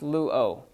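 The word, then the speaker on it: λύω: Well, that's pronounced luo.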